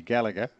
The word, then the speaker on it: Gallagher: it either way it's it's an Irish name uh my great-grandfather my ancestors and is Gala in Irish um but in USA and and Australia it's definitely the hard G gallager uh normally UK and here it's slightly softer G do I call you